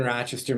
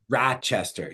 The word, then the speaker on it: Rochester: Rochester. See, we we land on a different syllable. We're Rochester.